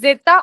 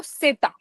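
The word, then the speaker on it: zeta: Then the last letter is Z which is जेता ओ सेता। कैसे प्रोनाउंस करने का? जेता ओ सेता मतलब जेता भी बोल सकते हैं, सेता भी बोल सकते हैं।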